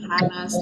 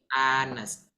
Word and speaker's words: honest: Karena cara bacanya jujur itu bukan honest tapi honest.